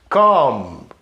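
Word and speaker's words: comb: Come, isso é pente, não pronunciamos esse B.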